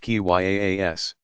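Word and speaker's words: qiyas: of reasoning by analogy Kias pronounced ki yaa s that followed strict rules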